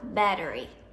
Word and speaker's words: battery: my battery is low battery นะคะอ่านออกเสียงตัวทีเป็นดอเด็กตรงกลาง battery I have some apps on